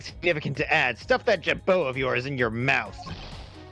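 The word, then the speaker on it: jabot: heard that word before ja oh Jabo an ornamental thrill or R the yeah jao it's French an ornamental thrill or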